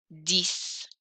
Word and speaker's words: dix: Rhymes with six, spelled the same.